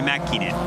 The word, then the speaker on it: Mäkinen: So the A with the 2 dots above it, yeah, is that a long A or a hard A? Like, is it R? Like The A with dots. Yeah, like the A. Like Tommi Mäkinen. Yeah, like that. It's Mäkinen.